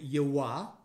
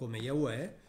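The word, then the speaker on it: יְהוָה: Bijbel, in Masoretisch Hebreeuws, wordt het uitgesproken als Yihwah, dus niet als Yahweh, en ze zeggen "adonai" wat betekent "meneer".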